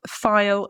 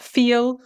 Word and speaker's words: file: it to the court pay attention to the pronunciation of file filed filed it's not feel or fill which are different words right let's move on